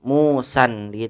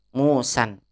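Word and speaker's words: موسًى: tidak bertahan tidak bertanam tapi kalau Musa yang artinya adalah pisau cukur musayyar tiap pisau cukur maka bertanwin mu sandi itu bacanya Musan niatnya pisau cukur ya bukan Musa nama orang tapi kalau kita berikan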